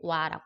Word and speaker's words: は: 내 휴대전화 번호는 는이니까 얘는 발음할 때 와라고 발음해요. 와.